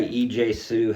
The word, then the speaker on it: EJ Su: Um, say his name again. EJ Su. Okay. So I say EJ Sue. EJ Sue. Hey, that's okay. How else could you pronounce that? Capital E period. Capital J period Sue. S U. Wow. Yeah. Like Fu.